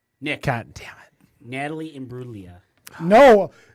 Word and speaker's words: Imbruglia: Yeah, I'm gonna call you off on pronunciation. That's bullshit. You can't No, call me it's off. Natalie Imbruglia. No, It's Natalie Imbruglia. it's Natalie Imbruglia. You missed a syllable.